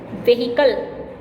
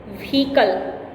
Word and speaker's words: vehicle: The word is vehicle. Vehicle. I know you can see H in the spelling of this word, but this H is silent.